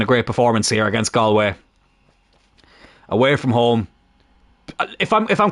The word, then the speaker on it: Galway: Actually, speaking of Irish teams or Irish places that get mispronounced, Galway is a common thing that I hear. It's Galway. Just want to say that.